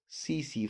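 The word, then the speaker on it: tsetse: by the bite of CC fly, the bite of CC fly, TSE, TSE, CC fly, T is silent, and the zoological name is Glossina palpalis.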